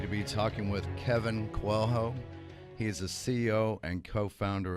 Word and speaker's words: Coelho: we're very happy to be talking with Kevin kwang-ho he's a CEO and co-founder of mibu Kevin did I pronounce everything correctly yeah thank you on the